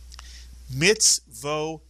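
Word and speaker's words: מצותי: And the third syllable, tai, mitsuyan. The tuf has the kamatz yud, which makes the I sound at the end of a word. Put the word together, you get mitzvotai, mitsuyan.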